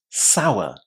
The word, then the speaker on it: sour: But o inside here is pronounced as in exactly the same way as you would start the way out or outside. Sour. sour. Again, as you can probably hear, I'm not pronouncing that final R, but that's only 2% of native English speakers. So, do feel free to say sour.